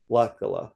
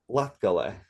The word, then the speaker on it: Latgale: Like, southern It's hospitality, Latgali. southern charm, Latgali. Hmm. Latgala. Yeah. This Latgale. Latgale. Latgale. Yes, you got it. Latgale. Let's argue about Latvian pronunciation.